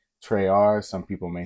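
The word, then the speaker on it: Tresr: is my brand um it's spelled capital t r e s and then um are but it's treyar like three like Tres also Trey like in the French um but I I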